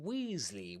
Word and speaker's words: Weasley: So you say Potter, Granger and Weasley with that long e sound.